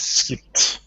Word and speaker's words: skipped: It's like when the verb ends with a voiceless sound, the ed is pronounced as a t.